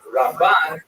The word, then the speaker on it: Ramban: the first syllable, Rambam, and Ramban is pronounced with the emphasis on the second syllable, Rambam and Ramban.